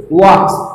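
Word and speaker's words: walk: अब देखिए इसे लोग प्रोनाउंसिएशन करते हैं बाल्क, बाल्क नहीं होता है, यहाँ पे एल जो है ना साइलेंट होता है, तो हम इसे वॉक बोलेंगे, क्या बोलेंगे वॉक, ही वॉक्स, है ना, ही वॉक्स।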